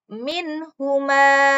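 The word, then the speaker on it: مِنْهُمَا: minhuma disebut izhar halqi. Yang mana izhar halqi? Ketika nun sukun bertemu dengan huruf H. Bertemu dengan huruf H. Maka dibaca jelas. Minhuma. Tidak boleh. Minhuma. Tidak boleh. Yang benar adalah minhuma.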